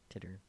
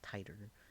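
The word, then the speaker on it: Titor: Titter. I said it correctly. How dare I? I've been saying it wrong on purpose. Titter is a lot funnier than the correct Titer.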